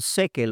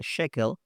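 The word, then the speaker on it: Schökel: Luis Alonso shequel que algunos dicen sequel O shel pero se pronuncia shequel eh él lo plantea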